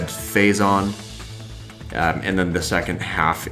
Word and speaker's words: Phazon: But the biggest change is right there off the top of it's pronounced, or it's said, phazon, and then the second half is exactly the